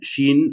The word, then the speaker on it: SHEIN: looking specifically at uh Shin or XI in the pronunciation was a big debate in the household but it looks like it is she in is actually the pronunciation of the company and then also to